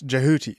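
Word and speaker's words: Djehuty: How does this How do you say this? Jahuti. Uh, where are you getting that from, bro? That's how you pronounce. There's not even a J there, dude. That's how you pronounce the hieroglyphs.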